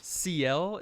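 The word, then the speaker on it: Ciel: but I think that you mispronounced the little girl scientist's name. There's a Seal. good chance. CL, isn't it? I believe. I think Carlisle says CL. I have always said Seal, and I'm not going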